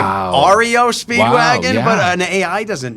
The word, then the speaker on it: REO Speedwagon: Rio Speedwagon. Oh, I'm like, Wow. REO Speedwagon? yeah. But an AI doesn't know. It's Yeah. Rio. It's REO, not Rio.